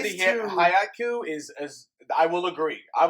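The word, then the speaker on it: Haikyu!!: It's not haiku. It looks like it's pronounced haiku, but it's haiku, and it's one about volleyball.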